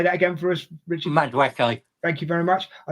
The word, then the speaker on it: Madueke: Madueke.